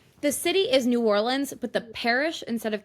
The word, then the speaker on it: New Orleans: But it I feel also like it bothers me definitely when people say Nolans or New Orleans instead of New Orleans. The city is New Orleans, but the parish instead of counties is Orleans Parish.